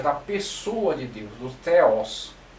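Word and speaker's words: θεός: Então, começando pelo theos, ok? Ou theos do grego, isso aqui é um tanto difícil de pronunciar, esse teta aqui, o theta do grego.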